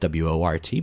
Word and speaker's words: wort: When you separate the solids from this liquid, you'll have what we call wort. It's spelled W-O-R-T, but pronounced W-E-R-T, wort.